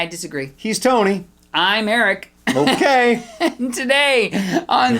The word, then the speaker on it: Ehrich: Eche? No, Ehrich. Okay, close enough.